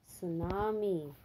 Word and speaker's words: tsunami: correct spelling very good here t is silent so what is the spelling t s u n a m i okay tsunami so t